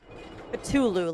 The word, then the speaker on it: Cthulhu: We're going to have to fight Cthulhu. Cthulu.